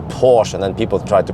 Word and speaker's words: Porsche: start with porsche then many americans yeah americans they would call it porsche yeah that's a nice porsche you have right there well but it's actually called porsche and also you know